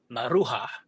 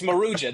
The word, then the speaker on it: Maruja: I kept saying I'm from the southwest, so I always said Marua, which is not not how you say it. It's Maruja.